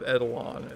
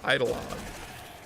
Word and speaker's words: Eidolon: was written i think i call it plains of edelon it's supposed to be plains of eidolon it's like really well